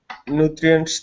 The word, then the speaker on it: nutrients: Okay, so you want to use a chr sound. So instead of nutri nutri and then give me a good s at the end.